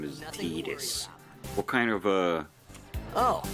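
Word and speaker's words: Tidus: They pronounce it Tetus. Tetus. Yeah. And even in that game even in that game it's inconsistent. I think at least one character calls him Titus.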